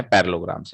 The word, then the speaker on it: parallelograms: पैरेललोग्राम्स. कोई इसको पैरेलेलोग्राम्स तो नहीं पढ़ता? है क्या कोई ऐसा? पैरेललोग्राम्स, है ना? ये डबल LE ये साइलेंट होता है.